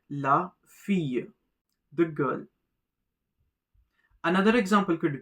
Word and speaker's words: fille: Notice the double L is silent. La fille, the girl.